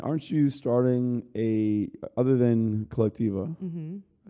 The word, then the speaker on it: Colectiva: And aren't you starting other than Colectiva?